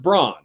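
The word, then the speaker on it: Brann: his name is pronounced Braun so there you go how about that spelled with an A but it's otherwise pronounced the same as Brawn as in Braun the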